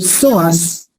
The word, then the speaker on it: psoas: Los dos músculos van a ser el soas. Miren cómo se escribe, como si fuera psicólogo. Psicólogo p soas mayor y el músculo ilíco.